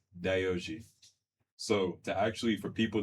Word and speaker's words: Yohji: Yeah, cuz some of y'all be pronouncing it wrong. So let letting y'all know what it is right now. It's Dooji.